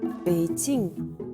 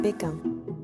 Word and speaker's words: Beijing: nom de la ville bk se prononce plutôt painting et ça s'écrit des ei gilles ing si vous cherchez sur google vous allez comprendre pourquoi les français l'appel pékin ça y est maintenant